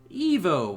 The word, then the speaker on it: Ivo: weird is a apparently dr. Ivo Robotnik is supposed to be pronounced Evo Robotnik specifically says pronounced Evo thing is I'm not